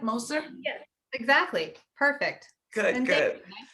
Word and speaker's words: Moser: introduce you to l moser did i pronounce that right moser yes exactly perfect good good nice to be